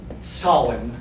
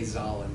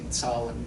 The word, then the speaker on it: Zahlen: It stands for, it's a German word. Zahlen is how you say that. Don't say Zahlen, say Zahlen.